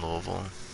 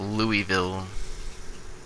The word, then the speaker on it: Louisville: but I live in Louisville and it's not Louisville its Louisville I hate it I hate when people from other places come here and pronounce it Louisville oh my god are